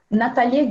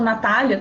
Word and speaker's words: Natalia: parênteses, eu não sei, eu sempre falo Natália, todo mundo fala Natália, mas a pronúncia aparentemente correta do nome dela é Natalia. Eu às vezes tento corrigir, mas nunca sai, mas fica para vocês saberem como que se fala, porque é italiano.